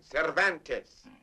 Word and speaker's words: Cervantes: Donkey Hoke by the Spaniard whose name is practically impossible to pronounce. Cvantes man. Cervantes.